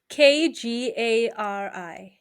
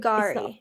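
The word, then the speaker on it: K'gari: Kgari. Can you see it? It's not Kagari.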